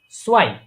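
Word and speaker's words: zwei: এই এ এবং ই ই থাকলে উচ্চারণ কি হবে সবসময়? আই আই আই। যেমন সোয়াই, সোয়াই মানে কি?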